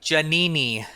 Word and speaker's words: Giannini: yeah no that was perfect how do they pronounce it in Italy so in Italy it's janeé me so yeah I've been saying it wrong for